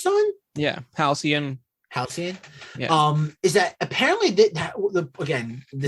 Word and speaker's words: Halcyon: Yeah, Halcyon.